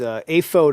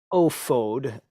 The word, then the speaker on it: ephod: So the ephod or aphod, it's is aphod apparently is how it's pronounced. Rarely ophod.